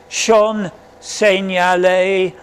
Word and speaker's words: Jean Seignalet: This is how I've transcribed it into English pronunciation so you can pronounce it Jean Seignalet.